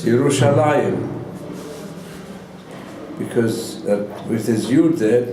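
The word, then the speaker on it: ירושלים: have to say it and read it it's yerushalayim because with as you that means it's in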